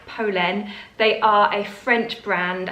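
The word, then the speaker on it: Polène: brand called polen i have been calling it pauline for longest time so please excuse my ignorance i have been corrected it is pronounced polen they are a french brand i think they're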